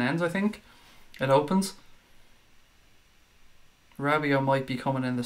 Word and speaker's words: Rabiot: Rabio, or as Craig calls him, Rababababio. Yeah, I had a bit of a mare trying to pronounce his name last night. Adrian Rabiot.